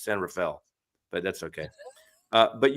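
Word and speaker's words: San Rafael: rapael yeah the San it's not San rafhael it's San Rafel but that's okay uh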